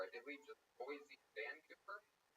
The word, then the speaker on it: Vancouver: Tony, where's Vancouver? What? Where's Vancouver? Vancouver, but never Vancouver. What have you heard of? Vancouver. What did I say? Vancouver. Put the wrong on the wrong syllable.